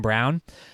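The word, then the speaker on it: Braun: name it because it's it looks like it's spelled like Brawn but I think it's called his name is Christian Brown and um he ever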